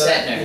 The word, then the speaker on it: Setner: Say it fast. It's Setner. Yeah.